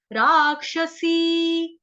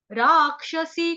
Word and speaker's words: राक्षसी: राक्षसी, राक्षसी, क्ष जो है संयुक्त अक्षर है जो कि बना है आधा क और षटकोण वाला श से। तो यहाँ पे रा जो है स्वर दीर्घ है, अगर आपसे लिया जाएगा